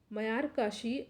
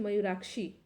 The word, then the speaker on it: मयूराक्षी: Are setting advantage from मयार काशी project. ठीक है, मयूर काशी होगा ये, सॉरी, मयूर काशी प्रोजेक्ट। निम्नलिखित में से कौन दो राज्य मयूराक्षी, ठीक है, मयूराक्षी है, यहाँ प्रोनाउंसिएशन में थोड़ा मिस्टेक हो गया, मयूराक्षी परियोजना से लाभान्वित हो रहे हैं।